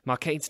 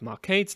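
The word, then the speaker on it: Marcadé: calling her laundry but the accent on the e of mark aides name would make his name sound more like market e one final way Shakespeare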